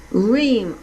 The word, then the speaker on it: Ream: Her name is Vinnie, Vinnie, Ream, R-E-A-M.